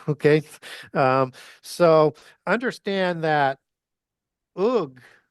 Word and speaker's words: Og: Um, so understand that Ug is how you would pronounce Og originally.